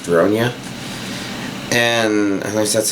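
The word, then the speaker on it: Ronja: watched enough of it to know that it's pronounced Ronia, and at least that's how they pronounce it in the show.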